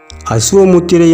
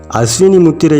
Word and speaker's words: அசுவ முத்திரை: முத்திரை என்று பகிரவும் செய்துள்ளனர் அசுவ முத்திரை என்பதே காலப்போக்கில் சொல் வழக்கில் உச்சரிப்பு மாற்றம் அடைந்து அஸ்வினி முத்திரை என்று திரிந்துவிட்டது அஸ்வினி முத்திரை என்று வைத்து பொருள் பார்த்தால் அதன் பொருளானது வேறாகத்தான் இருக்கும் ஆக அசுவ முத்திரை என்று சொல்வதே அதன் சரியான உச்சரிப்பாகும் நம் சித்தர் பெருமக்கள் குதிரையை